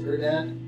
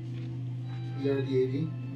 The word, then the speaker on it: Erdad: The mayor's name is Erdad. E-R-D-A-D.